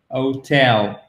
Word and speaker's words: hotel: C'est un peu la même chose, vous mettez l'accent tonique, OK? Mais pas O, c'est O. Hotel, hotel, room. C'est un ou long.